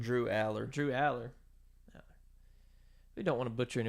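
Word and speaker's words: Drew Allar: how you pronounce his name? Drew Aller.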